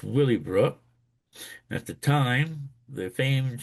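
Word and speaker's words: Willey Brook: Now, this is pronounced Willie, not WY, it's Willy Brook.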